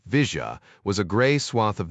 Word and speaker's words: villa: The villa Argentines pronounced it Vija was a gray swath of nothingness next to the tracks on most maps.